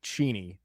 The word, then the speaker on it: Cheney: My last name is pronounced Cheni.